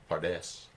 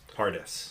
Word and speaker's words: Pardes: The acronym is the Hebrew word Pardes, which kind of sounds Spanish actually.